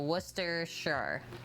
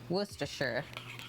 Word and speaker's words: Worcestershire: of history right now they said it should be pronounced how i'm saying it now so worcester sure worcestershire every time there is a shire you say sure they are well traveled